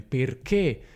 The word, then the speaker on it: perché: Quindi non è una "è" ma è una "é". Quindi nei composti di "che" come: "perché", "benché", "giacché", "finché" e tutta una serie.